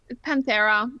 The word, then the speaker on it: Panthera: Is it Panthera or Panthera? Panthera. It's however Okay. you want to pronounce. It's the genus Okay. of big cats.